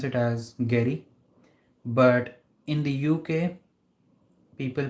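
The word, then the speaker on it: Gery: him Jerry but then there is another person whose name is g-e-r-y and he is in the U.S and he pronounced his name as Gary yeah how's your weekend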